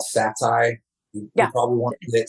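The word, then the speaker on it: seitan: And then I think, correct me if I'm wrong, I think it's called Sati. You probably want it. Satan. Yeah. Okay, Satan. Yeah, it's actually pronounced Satan.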